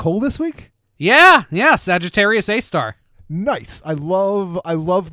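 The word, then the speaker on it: Sagittarius A*: three sad to say is Sagittarius a star which it's pronounced a star but it actually refers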